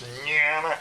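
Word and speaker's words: ज्ञान: That little word down there that most people would think it's jnana. No, it's in Sanskrit it's pronounced Jn is jnana.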